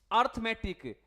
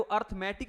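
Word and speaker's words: arithmetic: अपनी फौज एंड we should proud अर्थमैटिक। बच्चे क्या बोलते हैं? अर्थमैटिक। एक तो भाई वो अर्थमैटिक नहीं होता क्या होता है अरथमेटिक अरथ तो अरथ है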